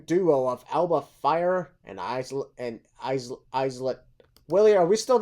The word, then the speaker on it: Isla: Somebody told me it's Isla. Isla. Dust. What is it? Is it Isla? It's Isla Dawn. That's the silent. Yeah, I think it's Isla. The S is okay. The S is silent.